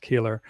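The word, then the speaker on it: Koehler: Color. Yeah. Yep. Color dog. Yeah. But it's pronounced Keeler.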